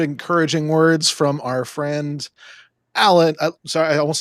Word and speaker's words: Alain: Lots of good, encouraging words from our friend Alain. Sorry, I almost said Alan. I almost did it. I almost didn't. It's Alain.